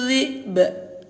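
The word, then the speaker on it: ذِئْب: Wa tarakna Yusufa 'inda mata'ina fa'akalahu dhi'b. Tuh, ayah bunda sukunkan atau matikan dulu hamzahnya, baru qalqalahkan huruf ba.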